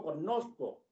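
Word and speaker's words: cognosco: Yo recuerdo rosa, o yo recuerdo el verbo connosco. Cuando dicen el verbo connosco, te lo pronuncian con la GN muy explícitamente con el sonido ñ.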